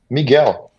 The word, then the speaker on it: Miguel: Miguel for people who don't know is it Miguel or um is that pronounced right or no yes it's right it's right Miguel now I've also got to ask as well